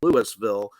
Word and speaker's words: Louisville: Louisville, spelled like Louisville, but Louisville, Mm.